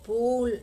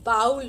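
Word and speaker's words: bowl: एंड one more important thing, बाउल ऑफ नहीं होता है। बहुत सारे अच्छे रेप्यूटेड फैमिली के लोग, यहाँ तक कि अच्छे अच्छे स्कूलों से पढ़े हुए लोग भी जो कटोरा है उसको इंग्लिश में जब बोलते हैं तो उसको बाउल बोलते हैं, बाउल नहीं होता है। अ बोल ऑफ सूप होगा।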